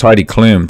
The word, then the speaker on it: Heidi Klum: It's pronounced Heidi Klum. Did I say Klum?